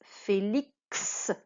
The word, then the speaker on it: Félix: Félix. On va le ranger dans ce cadre-là, puisque ici, le X se prononce X, le K et le S.